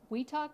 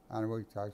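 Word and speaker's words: Eniwetok: Let's talk about Weetok, is it? Anawitak. Anawitak, so that's where I spent quite a few months.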